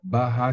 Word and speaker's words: Baha: je ne sais pas, c'est un B-A-H-A, Baha. donc puisque oui, donc c'est Avec un difficile. Donc H en français, ce prononcé. serait, oui, en français, ce serait Baha.